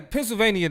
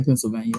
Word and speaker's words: Pennsylvania: you say Pennsylvania funny you pronounced the ni which is very peculiar Behavior to me what's the name of that pronounce it Pennsylvania how how you pronounce it Pennsylvania Pennsylvania it's an extra syllable in there that's not supposed to be there at the end that